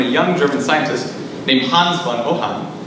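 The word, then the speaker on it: Hans von Ohain: Now, this hadn't really came to any fruition until the mid-1930s when a young German scientist named Hans von Ohan, again, German pronunciation, came up with his theoretical idea for the first turbojet.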